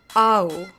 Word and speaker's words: ou: I know it sounds kind of like I'm saying ow, I'm not saying ow. Ooh. I'm exaggerating, clearly, with the emphasis being on the second to last syllable, which happens to be the first one because it's only 2 syllables long.